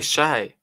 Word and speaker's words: Hsieh: And now we have advantage Shay. Yeah. Here we go. Hsieh Su-wei. Hsieh Su-wei. Yeah, mate, Bianca. It's Su-wei Shay.